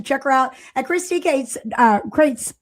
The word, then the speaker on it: Crites: So listen, I want you guys to check her out at Christy Crites. I'm saying it wrong. Crites, right? Yes.